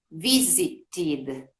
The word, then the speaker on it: visited: Si le agregamos la ed, visit, ahí la pronunciamos visited, ¿ok? Visited, ahí con id.